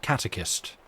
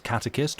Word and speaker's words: catechist: if it's catechist or catechist. And I think I found an American pronunciation, which was catechist, and like a more kind of Irish and Scottish pronunciation, which was more along the lines of catechist.